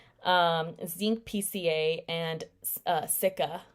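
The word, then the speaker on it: cica: um zinc pca and sikka i believe that's how you pronounce it sikka um i really like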